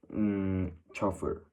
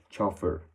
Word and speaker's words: chauffeur: Chauffeur. Yes, depending on how strict you wanna pronounce these words, you can get more of a harsh sound like chauffeur, or a little bit of a more correct